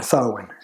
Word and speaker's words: Samhain: And that is how you pronounce that word there, Samhain.